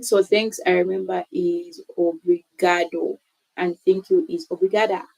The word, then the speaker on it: obrigado: I also want to learn on pronouncing because me looking at the word, I'll just go like obrigado, but it's actually obrigado. Okay. Obrigado.